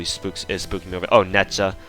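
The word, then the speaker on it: Nezha: Oh, Netja. Nutja, I think her proper pronunciation is Nutja, and Tomoe.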